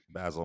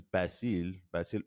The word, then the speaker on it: Basil: Well, my name isn't Basil. My name is Basil, and no one gets that right ever.